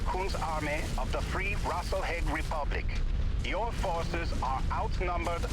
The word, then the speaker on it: Rasalhague: Well, he said RASALHAGUE, so that's how he pronounced New it.